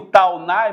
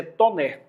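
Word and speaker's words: Taunay: Eu pronuncio taunai, mas no francês é toner.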